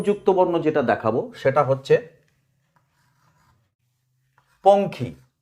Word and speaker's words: পঙ্খী: ঙ দিয়ে খ দিয়ে ঙয় ক্ষয় উচ্চারণটা হচ্ছে অঙ্কর মতো। ঙ হচ্ছে অং খ। আজকে প্রথম যুক্তবর্ণ যেটা দেখাবো সেটা হচ্ছে পঙ্খী।